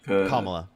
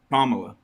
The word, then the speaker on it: Kamala: Camala or how you say her name Kamla Kamala um I definitely agree with her policy a